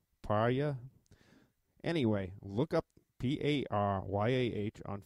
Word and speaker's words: Paryah: P-A-R-Y-A-H. And I can say that Pariah. Pariah.